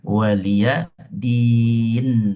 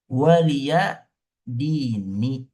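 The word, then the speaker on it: وَلِيَ دِينِ: Tapi ya-nya dihapus ya. Walia din. Bacanya walia din. Aslinya walia dini. Walia dini. Ada ya-nya. Tapi ya dihapus.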